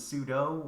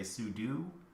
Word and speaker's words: sudo: Sometimes I hear it pronounced as sudo, or sometimes I hear people say sudo. So I think either pronunciation is fine.